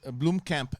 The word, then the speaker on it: Blomkamp: know i was a i was a bloom camp as sinead the freeze taught me how to say it um yeah i loved district 9.